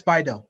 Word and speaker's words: BiDil: And so would you say, and especially after you talked about, is it Bidil it's pronounced? Yes, Bidil.